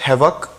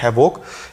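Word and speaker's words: havoc: और ध्यान देने वाली बात ये इस वर्ड में ये है कि बहुत सारे लोग इसे प्रोनाउंस करते हैं हैवोक। इट इज़ a wrong pronunciation. इसकी राइट प्रोनाउंसिएशन होती है हैवक।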